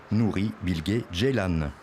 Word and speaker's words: Nuri Bilge Ceylan: personne surtout pas moi certains le prononcent à la française à l'anglaise à la turque moi je dis nourri Bill Gates Jellal un réalisateur turc à